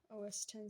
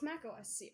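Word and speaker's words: Mac OS X: here we go goodbye os10 Z oh wait it's Mac OS Z what is wrong with me saying it wrong OS 10 I'm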